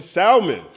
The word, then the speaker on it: salmon: Kwait for real says, "Whoever said Leith Stanfield isn't a real actor probably pronounces the L in salmon."